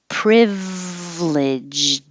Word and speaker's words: privileged: this looks like and it could be three syllables privileged but we're shortening it dropping the middle syllable and making it two syllables privileged again don't release the d privileged privileged it's weird